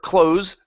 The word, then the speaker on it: close: he closed the door so if it has endings like a verb okay we have to pronounce the Z if we're talking about the the proximity okay um or if we're using it as a preposition right close Okay um that is the unvoiced S sound close Okay when's the